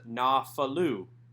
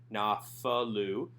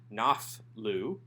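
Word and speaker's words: נָפְלוּ: to determine the answer the answer to number one is na falu you'll notice that there is no doge line a in the pay instead this is a soft pay a f sound no falu you'll also notice that we have a vocal schwa under the pay so that this is not naf lou and also that we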